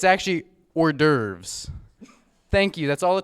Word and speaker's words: hors d'oeuvres: question I have a surprise how do you pronounce this word sorry the papers a little crumpled it's actually hors d'oeuvres thank you that's all the time we have